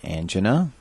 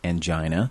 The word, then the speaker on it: angina: the first one is called angina or angina depending on how you learn how to pronounce it the second one is